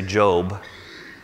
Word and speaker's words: Job: In Hebrew, his name is pronounced Yov. We would say Job.